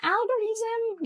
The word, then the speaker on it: algorithm: the next word is algorithm again to stress is on the first syab an algorithm you heard this word